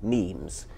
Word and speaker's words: meme: So I called it a meme. So it doesn't exactly rhyme with gene, but it's sort of short and sounds vaguely similar.